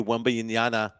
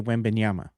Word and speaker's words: Wembanyama: Yeah, Mikey Mendez saying Reggie Miller won't stop calling Wemby Wembyanyana.